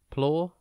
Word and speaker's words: plausible: It is pronounced plausible and spelt P-L-A-U-S-I-B-L-E. Think plause and then ibble.